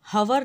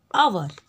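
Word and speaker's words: hour: इसके हम हवर नहीं बोलते, ह नहीं लगाते, ह नहीं लगाते, इसको हम लोग प्रोनाउंस किस तरह से करते हैं? आवर।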